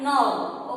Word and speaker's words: gnaw: And next one we are going to see animals that gnaw. Okay, here G is silent, you have to mention now N-A-W.